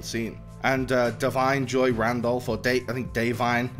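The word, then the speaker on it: Da'Vine: And Davine Joy Randolph, Davine is how you pronounce it, Davine Joy Randolph, is also incredible, as you know, she's also in the mix as this grieving mother.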